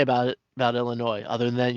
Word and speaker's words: Illinois: And I can't think of anything else really to say about it about Illinois other than you don't pronounce the S at the end if you know.